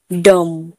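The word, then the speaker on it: dumb: एम के बाद बी है तो यहाँ पर भी साइलेंट है। थम, डम।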